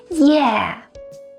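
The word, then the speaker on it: 耶: The last interjection we're going to talk about is yeah. Yeah is used to express excitement. It actually comes from the English yay, and Chinese localize it to the pronunciation yeah.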